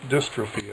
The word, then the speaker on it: dystrophy: We got to go, but that last word is pronounced dystrophy, as in muscular dystrophy.